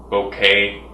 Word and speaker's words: bokeh: People pronounce the word in different ways. Some people pronounce it bokeh, some people pronounce it like bouquet. So you can call it whatever you want. I call it bokeh because that's what it sounds like to me.